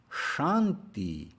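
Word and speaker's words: śānti: already gone over shanti the accent mark over an s indicates an sh sound that isn't just the sh sound we would normally use right up behind our teeth but rather it's an sh sound from further back in the back of our mouths so it's more of a pink noise sound as opposed to a white noise sh sound the long a i've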